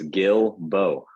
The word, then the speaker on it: Guilbault: It's Guilbault.